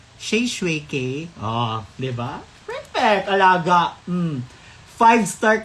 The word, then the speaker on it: Shae Shue K: Wag nang ipilit yung Shay Shok, mga shwik, mga, ay, nako. Diyos ko. Oo ha, ganon. Pero yun lang talaga, isang Grab driver lang talaga, tama talaga yung pagbigkas ng kanyang bibig at yung pangalan ko. Sabi niya, hello po. Ay, sabi ko, hello po. Sabi niya, Shay Shui K.